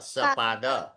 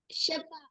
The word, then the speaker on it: सपाद: हाँ सार्थक वाला स है ना वो स्नेहा वाला स। सपाद शपाद शपाद नहीं नववादनम श नहीं सार्थक सपाद सार्थक सपाद स्नेहा स शपाद एकादश वादनम शपाद दशवादनम। आपके उच्चारण में श आ जाता है बेटा। सकार बोलिए स सपाद सपाद दशवादनम सपाद द्वादशवादनम।